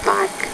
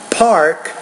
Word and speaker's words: park: I say the word park I'm going to say park park I'm not going to say park park I'm going to say park so you need to pronounce that P with more aspiration I always memorize those